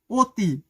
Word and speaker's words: অতি: এগুলো ঠিক আছে কিন্তু এখন দেখবা যে অ এর উচ্চারণ ওর মত হয়ে যায় যেমন এটা কি উচ্চারণটা হবে অতি উচ্চারণ হবে অনু উচ্চারণ